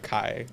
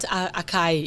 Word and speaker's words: açaí: They they call it açaí. Yeah, they don't they don't know how to pronounce it.